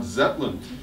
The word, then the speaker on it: Zetland: Hartley's in the Shetlands I never heard of anybody called Lord Zetland I thought this must be wrong pronunciation and I really almost like about to try to say don't you mean more Shetland and I'm glad I didn't because actually a person I read in the history books the Lord Zetland